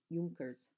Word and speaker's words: Junkers: The Luftwaffe used several different kinds of planes for their blitzkrieg bombing, including the Heinkel, Messerschmitt, and Junkers, pronounced Junkers.